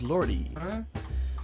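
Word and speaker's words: Lorde: How do you pronounce it? S-I-A? Sia? No, it's Lordy.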